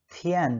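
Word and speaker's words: 天: डे आज हम पढ़ने वाले हैं जिसको हम चाइनीज में थियन बोलते हैं और हिंदी में आपका स्क्रिप्ट लिखा हुआ है।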